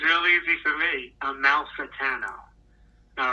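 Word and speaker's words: Amalfitano: call to him and asked him how to pronounce this name so Joe from Staten Island take it away it's Joe a Mal satano it's really easy for me a Mal satano all right so hopefully the message is clear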